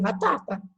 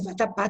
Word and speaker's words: vatapá: Porque, por exemplo, eu tiro o acento do vatapá, eu vou ter que ler vatapa. Né? Porque se fosse vatapá, teria acentuado.